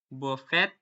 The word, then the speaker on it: buffet: For example, words coming from French and the eight of laundry it when I read them pronounced and the start in the French way, as in the A in the day.